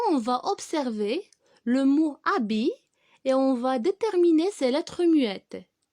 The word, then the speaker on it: habit: On a deux lettres muettes. On a le H qui se trouve au début et T qui se trouve à la fin.